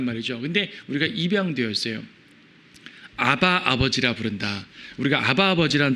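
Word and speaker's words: אבא: 아바. 아, 아빠. 아바도 A, BBA니까 사실은 아빠 발음이거든요. 그렇다고 정말 아이들이 부르는 의미는 아니고요.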